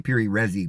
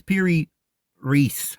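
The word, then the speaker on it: Piri Reis: they call it per I would say per resi because i' I've said that so long but I know that's not the right pronunciation it's Peri Reese I guess map Peri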